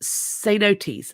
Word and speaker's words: cenotes: It's pronounced cenotes.